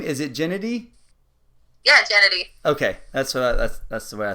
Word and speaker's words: Jenedy: Yeah, Jenedy.